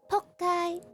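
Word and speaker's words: 仆街: Pokkai. And we usually say PK. Yeah. It sounds very similar to not really pork, maybe POOK.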